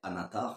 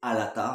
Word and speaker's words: Alatar: s'appellent alatar et palando à ne pas confondre avec anatar ça se prononce légèrement par mais c'est alatar avec deux ailes alatar pour un des